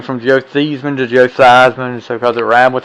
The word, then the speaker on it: Theismann: tidbit about Theismann was that's not even how you pronounce his name. Thiesman. You remember that story, right? In Notre Dame, his name was Thiesman, but they changed it for his Heisman run.